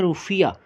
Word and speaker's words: रुफिया: तो माँ से मॉरिशस, माँ से मालदीव्स, और मालदीव्स की करेंसी रुपया है, लेकिन थोड़ी सी उसकी प्रोनाउंसिएशन चेंज है, वो है रुफिया।